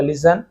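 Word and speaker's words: listen: सुनो एक काम करो, लिसन यानी सुनो, ये भी टी साइलेंट होता है, लिस्टन नहीं होगा, लिसन।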